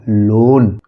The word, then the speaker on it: lone: से हो जाएगा न, और यहाँ ई साइलेंट है तो ई का कोई मतलब नहीं है, क्या हो गया लोन।